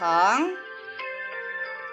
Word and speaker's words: 横: Ini bacanya tian. 横. Heng.